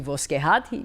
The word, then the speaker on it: Voskehat: And he says, okay, the Voskerat, which is, it's actually Voskehat because he's Italian. He pronounces it slightly differently.